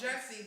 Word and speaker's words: Jussie: Is it Jussie or Jessie? I never know. It's Jussie, but it's spelled like Jussie.